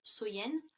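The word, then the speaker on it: Samhain: longue nuit de l'année donc était samen donc qui est prononcé qui se prononce soyen et donc il croyait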